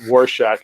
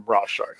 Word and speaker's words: Rorschach: sorry he left or he mispronounced war Shack and called him bra shark so now we have